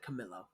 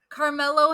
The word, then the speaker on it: Carmelo: there is an R in that. You said Camilo. Oh, I'm sorry. I thought I said the name correctly and I went way past it. Carmelo Hayes.